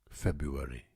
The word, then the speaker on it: February: You think this is how you pronounce it because you're listening to somebody, and then you realise when you learn to spell it that you were pronouncing it completely wrong. February. There's another one I notice sometimes with children.